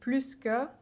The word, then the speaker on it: plus: than you for example in this case it's pronounced s because the combination pluska is always pronounced with s that's just something you